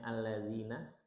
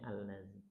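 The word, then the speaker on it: الذين: Yang harusnya allazina dibacanya al-nazi.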